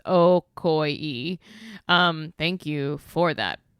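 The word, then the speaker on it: Ocoee: They gave me the pronounce Okoy.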